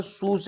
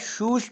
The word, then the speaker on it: شوش: کہ ولایت خوزستان میں ایک شہر ہے جس کا نام سوس ہے، اور اہل فارس اسے اپنے تلفظ کے تحت شوش کہتے ہیں، جس کے معنی خوبصورت